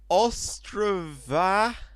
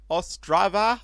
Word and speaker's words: Ostrava: and we're taking it to Ostrava Ostrava I believe that's how you say it and we're going to